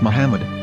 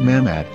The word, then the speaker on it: Muhammad: According to Ben Yehuda's Hebrew-English Dictionary, it is correctly pronounced as Muhammad, not Mamad.